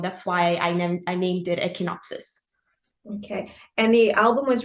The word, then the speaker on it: Echinopsis: So, this EP is called, I'm going to pronounce this, Echinopsis.